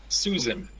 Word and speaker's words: Susan: um, Susan. Susan. What a great example. Why is the first S a S and the second S a Z?